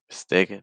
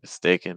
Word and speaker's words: mistaken: Mistaken. Mistaken. Mistaken. So it's not mistaken. It's mistaken. So again, trying to watch out to make sure we're not using a schwa sound at the end.